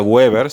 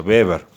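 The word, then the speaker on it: Weber: el flujo magnético es el beber que se escribe w sí pero no se pronuncia webber se pronuncia beber tengan cuidado con eso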